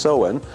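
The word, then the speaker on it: Samhain: believed that on on Sam him pronounced soen that the physical world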